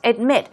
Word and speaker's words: admit: let's move on to admit admit stress goes right there on the second syllable now you're declaring something